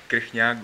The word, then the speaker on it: Krejciak: Now we're going to welcome our youngest player, Tomas Krejciak. Am I saying it right? You should say Krejciak, but it's okay.